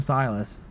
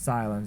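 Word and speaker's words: Sylens: I always call him Silas. It's not Silence though, it's Silence. Right? Silence. I think that's how you say his name. I usually call him Silence though. Or Silas. Look it up. It's Silence, yeah.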